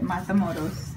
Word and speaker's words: Matamoros: You have to say it right, Matamoros.